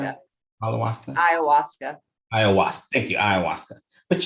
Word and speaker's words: ayahuasca: Am I pronouncing that? Ayahuasca.